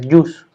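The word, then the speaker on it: jus: no se pronuncia si la jota se pronuncia como una y como una y entonces la pronunciación correcta es yus esa sería la pronunciación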